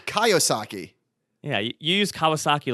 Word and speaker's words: Kiyosaki: robert kaisaki yes and you totally spelled his name wrong too you use kawasaki like oh my god i completely butchered that i apologize i said guy kawasaki it's robert kiyosaki yeah you use kawasaki